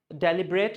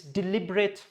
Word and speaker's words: deliberate: It's not deliberate, it's deliberate.